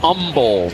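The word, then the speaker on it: Humble: The kid from Umble, Texas. No hate. No H. They don't hate. No H. H is silent.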